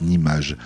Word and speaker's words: Nimag: Mais au départ, je voulais que ça se prononce Nimage, car je voulais que